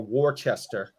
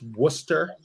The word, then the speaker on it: Worcester: It's not Peabody or Warchester. It's Worcester and Peabody.